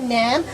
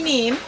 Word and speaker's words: neem: I see the Abaco Nam, which is a health product. Can you tell us a bit about your health product? I've heard about the Nam tree. Neem. The neem.